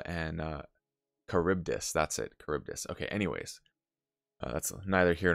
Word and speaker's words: Charybdis: it celia sila and uh charybdis that's it charybdis okay anyways that's neither here nor there my pronunciation is known to be terrible and i